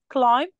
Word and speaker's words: climb: فالمفروض ان احنا البي لما بتيجي في الاخر climb، يعني انا هقول climb climb، المفروض هي الصح كده climb، ما تحسيش ان انا نطقت الايه البي.